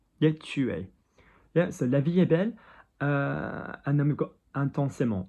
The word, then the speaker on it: La vie est belle: The next one is La vie est belle. La, sharper than we expect. L-A, V-I, between the eyes. V-A-E-S-T. We don't pronounce the T, do we? Because it's not followed by a vowel.